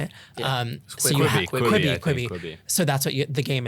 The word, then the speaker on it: Quibi: People are subscribing to this shit every day, like a 10-minute miniseries on Quibi. Like, is that how you say it? Yeah. So you have Quibi.